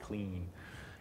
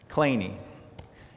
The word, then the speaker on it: Kleene: 1951, Stephen Kleene, apparently that's how he pronounced it, though I would say clean, Kleene.